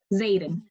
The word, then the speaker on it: Zaidan: what is his name Zaidan like Aiden with the Z so pronounced I always